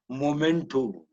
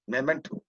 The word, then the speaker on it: memento: occasion next memento memento we say momento it's not like that memento so m-e-m-e-n-t memento often